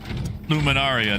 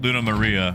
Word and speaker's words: Luna Maria: totally butchered your name I went luminaria not Luna Maria I almost made you